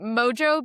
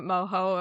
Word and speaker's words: mojo: So, the Mojo bags that I talked about, and I think it is Mojo. I was pronouncing it moho, like a more uh Hispanic sounding way, but I think it is just pronounced.